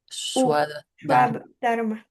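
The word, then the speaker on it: svadharma: sí, está bien, Shva porque la Dharma. B como que va como U. Shva Dharma.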